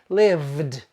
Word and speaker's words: lived: When we write live, we spell V-E, but the E is silent. The final sound is v. So the past tense is pronounced lived, lived, vd, vd.